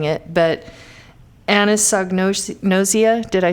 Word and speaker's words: anosognosia: But they have this condition called anosognosis. I have the hardest time saying it, but anosognosia.